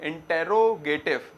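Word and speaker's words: interrogative: फिर होता है इंट्रोगेटिव। स्पेलिंग तो क्या है? इंटेरोगेटिव, मगर प्रोनाउंसिएशन में इंट्रोगेटिव बोला जाता है ज्यादातर।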